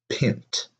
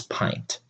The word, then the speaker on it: pint: Okay, and of course the answer is that it quote unquote should be pint, but it's not, it's pint.